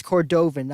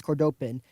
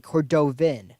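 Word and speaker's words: Cordovin: we establish this with gold star but it's cordovan awkward open just those two idiot guards pronounced no they did it we misunderstood last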